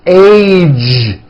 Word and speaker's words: age: It's not H, it's age with a voiced ending.